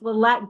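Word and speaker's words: Liette: So, but it's you can you can mention it's it's Le I always pronounce pronounce her first name incorrectly. I don't know why. It's Lette Glo. It's L I E T.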